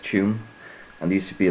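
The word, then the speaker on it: Tuam: used to go up to a place called Tune. Though it's spelled really oddly, like most Irish names in English are spelled T-A-U-M, but it's pronounced Tune.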